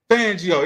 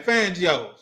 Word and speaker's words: Fangio: Fangio. Yeah, that's his name. Fangio. That's how you pronounce that He couldn't beat Fangio when he was with the Broncos.